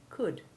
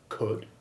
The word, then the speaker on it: could: looked at double o the double o2 sound of words like good and wood can also be made by a very few oh you words like could should and would this is our o